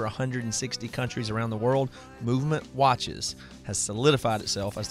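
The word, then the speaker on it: MVMT: tell you guys about movement watches it's MV MT pronounced movement now movement was founded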